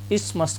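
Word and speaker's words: isthmus: और इस्मस का मतलब होता है आपका, यहाँ आपका TH साइलेंट है, इसका प्रोनाउंसिएशन होगा इस्मस।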